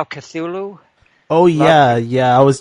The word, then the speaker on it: Cthulhu: I pronounce it Cthulhu.